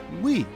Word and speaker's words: Wii: The Wii is pronounced as Wii, which emphasized the console is for everyone.